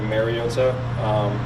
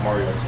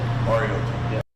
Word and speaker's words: Mariota: I think it's been said over the years like Mariota, which is incorrect, and it's pronounced Mariota. Mariota.